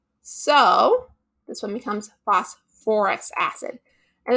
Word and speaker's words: phosphorous acid: so this one becomes phosphorous acid and it's only really with anything that has the phos beginning so phosphate phosphite that you need to add that or okay so something else